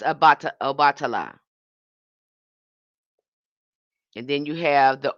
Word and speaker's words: Obatala: And then the throat chakra is associated with abata. Okay, I'm going to say it wrong. Abatala. Again, bringing in clarity, speaking truth, aligning with divine communication. That's Obatala.